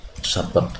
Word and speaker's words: sabaq: kita baca dengan fathah, kalau kita baca dengan sukun asabq yaitu perlombaannya sendiri. Nah, di sini rata-rata ulama itu membacanya dengan fathil ba. Jadi bab bicara tentang sabaq, yaitu hadiah lomba.